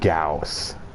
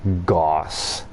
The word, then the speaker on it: gauss: it the proper way it's pronounced gauss not goss and it's it's a